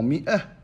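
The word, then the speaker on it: مائة: Dans mi'ah, on a rajouté un elif et on ne le prononce pas.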